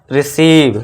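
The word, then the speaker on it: receive: अभी हम पढ़ेंगे इम्पोर्टेंट रूल, जब भी किसी इंग्लिश वर्ड में लास्ट में ई रहता है तो वो साइलेंट रहता है, उसे हम उच्चारण नहीं देते हैं। तो बस ये क्या हो गया अभी रिसीव।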